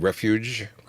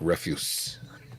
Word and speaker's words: refuge: throw in something silly you have to be careful on your pronunciation of that first one that you called refuge we don't want to sound like refuse oh thank you for